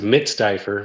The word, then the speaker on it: Mitstifer: uh hitler right that's it so it's it's pronounced mid-stiffer but it's it's a weird last name i